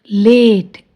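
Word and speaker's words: late: ल ए ट, लेट, ई साइलेंट।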